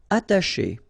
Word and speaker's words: attacher: Attacher. Okay, you don't pronounce the double T, okay, ata, but then remember, C and H together, they will produce this sh sound.